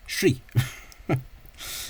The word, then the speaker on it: Sri: think of uh is actually pronounced in the language of Sri Lanka as Shri even though it's spelled Sr so you often get